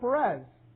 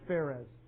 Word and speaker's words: Perez: jew it's mr perez the only reason i'm saying is because this is the way it's pronounced even though this is the way it's written most places so if you say fairheads and you say no that's just perez it's faires so i'm not trying